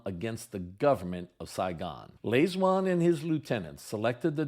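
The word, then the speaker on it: Lê Duẩn: lean that's spelled l space Duan but it's pronounced Lewan hoi men and Lewan were both totally committed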